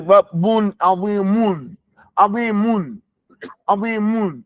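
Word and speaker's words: عظيمٌ: You can't say, Rabbun azimun, azimun, azimun. It's not going to come out. You say azimun. You have to bring your lips back.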